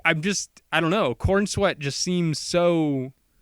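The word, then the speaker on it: Corenswet: me let me do what I want to pronounce there. Like I'm just I don't know. Corin sweat just seems so cin sweat. Corin sweat. Corin sweat. Corin sweat. Not corn sweat.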